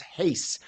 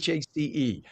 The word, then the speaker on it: Hace: I was like, is it Latino pronunciation or is it English pronunciation? So it's Hace, Yes. Hace.